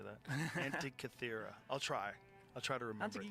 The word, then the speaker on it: Antikythera: Oh, the Antikythera mechanism. That's it. I never could say that. Antikythera.